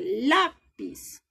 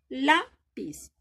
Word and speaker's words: lápiz: Y lápiz tiene tilde. Lápiz. Lápiz. Entonces suena más fuerte. Significa que esta es la sílaba tónica de estas palabras.